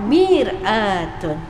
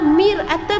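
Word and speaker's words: مرآة: sallallahi wasallam ajar kita Ana sebut maratun wanita maratun dalam bahasa Arab maksudnya wanita maratun ejaannya mim ro Alif Hamzah ta mutah tapi ejaannya di bawah baris di bawah miratun cermin beza baris betul Sayang kalau perempuan disebut maratun kalaulah miratun B ba boleh nampak kan maka Rasulullah Sam ajar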